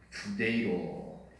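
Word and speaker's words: φθείρω: 근데 이 좀 발음을 히읗과 피읍이 좀 섞여 있습니다. 후데이로. 주로 이제 히읗 발음이 많이 나는데 후데이로.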